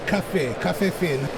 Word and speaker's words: phin: Lynn, how do you pronounce the Café Phin?